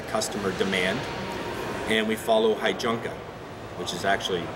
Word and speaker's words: heijunka: build to the customer demand and we follow heijunka which is actually pronounced pain Jukka and that's leveling of volume and variety on